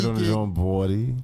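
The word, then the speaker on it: BXDY: On the song Body, which is spelled BX DY. Bawdy. You know what I'm saying? Say So that yeah, again. Say that again. Bawdy.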